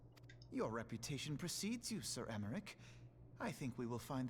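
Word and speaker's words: Aymeric: I am Emmerich, Lord Commander of the Temple Knights. Okay, it's pronounced Emmerich, with more of an E than an A. Alphino Leveilleur, at your service. Your reputation precedes you, Sir Emmerich.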